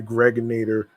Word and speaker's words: Gregonator: I'm your man, G Money Stacks, aka the Gregonator, rhymes with Annihilator.